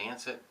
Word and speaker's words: Nacet: I think you pronounce it a Nacet, N-A-C-E-T. That was the blade I used yesterday.